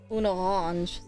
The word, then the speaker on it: une orange: So, an orange is pronounced un orange. Un. Oh. There you go. Liaisons happening here. Orange. Is the R. Orange. N. And it's a j sound at the end.